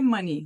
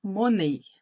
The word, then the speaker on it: money: com isso aqui ó monei né Vocês vão tentar falar monei porque no português a gente leria assim e essa não é a pronúncia correta da palavra em inglês alguém aí sabe qual